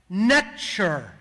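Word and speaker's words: nṯr: NTR was actually pronounced net sure almost identical extremely close to the English pronunciation of nature almost as if a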